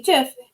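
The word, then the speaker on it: GIF: a stephen wilheit creator of the of the jiff has died it's pronounced jiff and someone wrote i guess he's with john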